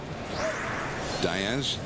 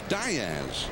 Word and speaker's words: Diaz: Diaz, the name would more correctly be said Diaz, but in his family they pronounce it Diaz.